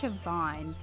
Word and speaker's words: Siobhan: now it's oh gosh just like Chabon I think I think it's Siobhan but it's spelt with the